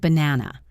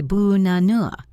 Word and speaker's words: banana: Look at the word banana. We don't say ba-na-na. We say bu-na-nua. The first and last A become schwas.